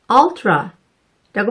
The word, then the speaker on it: ultra: 그런데 울트라가 아니라 ultra라고 발음하셔야 해요.